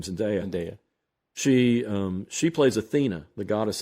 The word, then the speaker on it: Zendaya: And I'd wondered why Zendaya, or how do you pronounce her name? Zendaya.